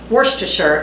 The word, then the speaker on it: Worcestershire: teaspoon of worcestershire worcestershire the correct pronunciation is not shire sure so worcestershire is how i'm saying it today if somebody knows the